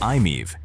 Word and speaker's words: i-MiEV: The original Nissan Leaf, the Mitsubishi i-MiEV, pronounced "i-meev", and the Kia Soul EV all charged this way.